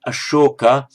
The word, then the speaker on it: Ashoka: King Ashoka, spelled with that one, Ashoka, would be pronounced as Asoka in Pali.